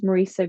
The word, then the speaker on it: Muiriosa: I am on Facebook and my name is Marissa coachin um Marissa is spelled m i r i o s a